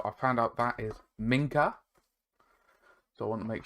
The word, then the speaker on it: Minka: as possible because I am very bad at pronunciation so I found out that is Minka so I want to make sure I do